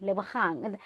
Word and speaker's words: Lebohang: I say, "No, no, no, Lebohang." In your language, yes. In my language, it's with the G, Lebohang.